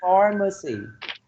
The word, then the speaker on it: pharmacy: So we have a pharmacy. The first syllable is stress. Pharmacy, right? Next one, number 3.